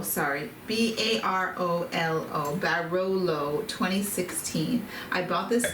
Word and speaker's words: Barolo: this one Baba da yes now it's called barolo b a r o l a o l